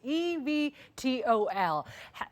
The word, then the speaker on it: eVTOL: Exactly how to pronounce it, I don't even. It's eVTOL.